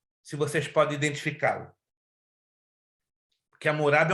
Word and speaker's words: Hammurabi: não é Código Murai, é Código Amurai. Não, irmã Nalu. Meu Deus, tão pertinho. O que tem a ver? É o Código Hammurabi mesmo? Não, vocês estão pronunciando o nome errado. Ei, Jesus da glória. Código de Amurai. Não, tá errado. Hamurai. Tá difícil. Anote aí. Código de Hammurabi. Hammurabi. A-H. Murabi.